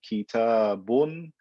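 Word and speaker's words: كتابٌ: I only pronounce it as a noon. I don't actually write a noon on the letter. So if I say kitabun, I don't put kaf, ta, alif, ba, noon.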